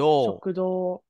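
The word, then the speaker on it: 食堂: So what's this ending part of shoku is pronounced as for diner? Do. Yep. Do. Shokudo.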